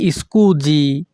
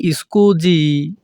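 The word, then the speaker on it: scusi: সরিদি মাফ করো মি স্কুজি এখানে এস আই এর উচ্চারণ হবে জি যখনই আমরা ইতালিয়ান ভাষায় কাউকে বলতে চাইবো মাফ করো তখন আমাদেরকে বলতে হবে মি স্কুজি এখানে আনো পরালো কুই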